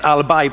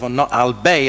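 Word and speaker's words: Albay: And it's Albai province. You're the governor of Albbe as I pronounced it. So I'm corrected there as well.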